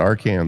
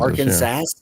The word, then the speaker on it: Arkansas: How can you screw up Arkansas or Kansas? I call it our Kansas. Arkansas. Our Kansas. Arkansas. Arkansas.